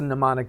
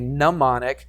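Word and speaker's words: mnemonic: dear aun Sally pemos that's a pneumonic device we have we have a neonic the m is silent right there it's silent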